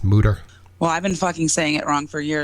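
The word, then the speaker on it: Mütter: I love that place I always thought it was murder but it's actually pronounced mooder well I've been [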